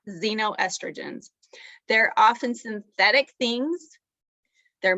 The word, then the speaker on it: xenoestrogens: become familiar with it it's spelled x e n o estrogen and you say it xenoestrogens they're often synthetic things